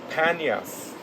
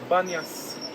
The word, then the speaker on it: Banias: Now, because of the local Arabs, they cannot pronounce the letter P, and they would say Banias. Very simple with B, like say pizza instead of pizza. So this is how the name was changed from Panias to Banias.